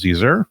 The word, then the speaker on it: Zur: tank uh to carry zur around pronounced caesar and looming even fall